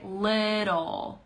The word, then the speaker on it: little: really talks like that so you could say little it's a D sound in the middle that T little little okay then Ricardo says